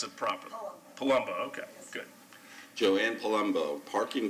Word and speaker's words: Palumbo: didn't butcher your last name how do you pronounce it properly palumbo okay good joanne palumbo parking facility and security